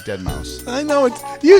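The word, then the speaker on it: deadmau5: Yes, we're going to try to redeem ourselves from the way that you pronounce Dead Mouse 5. It's actually Dead Mouse.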